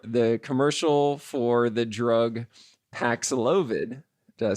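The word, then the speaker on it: Paxlovid: because the Dr the commercial for the drug paxilovid did I say it right yes pack slogan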